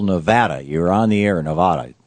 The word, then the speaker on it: Nevada: You're on the air, Nevada. Tell me how to say it, Randy. You're on the air with Senator Sanders. Nevada's right.